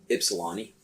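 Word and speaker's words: Ypsilanti: And how the does somebody pronounce that? Ipsilani.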